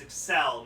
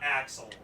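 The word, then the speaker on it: Accel: It's Excel, not Axel.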